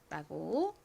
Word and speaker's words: rumor: 여기서는 U가 우 소리로 쓰였죠. 그래서 R의 리을 소리, U의 우 소리, M의 미음 소리, OR의 소리를 연결하여 rumor이라고 발음합니다. 한국식으로는 rumor라고 발음하고 표기하죠.